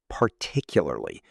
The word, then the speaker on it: particularly: Emma, how do you say particularly? I always get lost in the middle. Particularly. The stress is on tick.